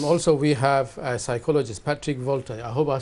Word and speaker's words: Patrick Volta: And also we have a psychologist, Patrick Volta. I hope I said it right. That is correct. If you could introduce yourself to our viewers. Yes, my name is Patrick Volta, and I am a chief executive of a